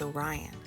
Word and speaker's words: Orion: The Hunter's name is Orion. You say it like this, O-R-I-N.